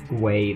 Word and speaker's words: Guay: to pronounce their name I'm pretty sure it's guay though it's like guu a y so here's the source